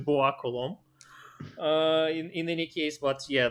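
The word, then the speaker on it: Bois-Colombes: There should be S at the end of Colombe. Anyway, French people wouldn't pronounce it, so it's Bois Colombe.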